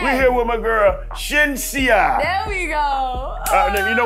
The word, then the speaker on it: Shenseea: Shenseea, I said it wrong? Shenseea. Shenseea. Shenseea. Shenseea. Shenseea. Okay, look. Shen and I see ya.